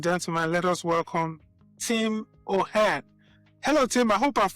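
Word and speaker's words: O'Hearn: So without no further ado, ladies and gentlemen, let us welcome Tim O'Hare. Hello Tim. I hope I've pronounced your last name correctly.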